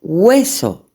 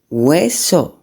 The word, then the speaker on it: hueso: O hueso, UE, hueso.